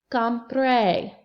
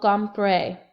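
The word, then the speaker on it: compré: then you're gonna say compre c om p r e accent on the e no no no come pray no no I didn't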